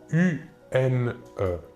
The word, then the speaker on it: une: une une il s'écrit u n e il faut bien différencier la prononciation entre le masculin et le féminin au masculin 1 et au féminin une voilà encore deux exemples